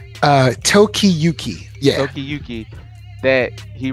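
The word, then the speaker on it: Tokiyuki: me let me get the exact pronounce y pronounce uh Toki Yuki yeah Toki Yuki that he realizes and more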